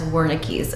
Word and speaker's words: Wernicke: In today's video, I will be going over the difference between Broca's aphasia and Wernicke's aphasia, also sometimes pronounced as Wernicke's aphasia.